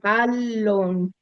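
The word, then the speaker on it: ἄλλον: Alon. Sí, esa se pronuncia solo, ¿verdad? Alon. Sí. Las dos L se pronuncian Las dos L se pronuncian como L. Alon.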